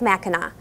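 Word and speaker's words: Mackinac: at the ma Bridge both are spelled with the French sea at the end which sounds like a w and to further confuse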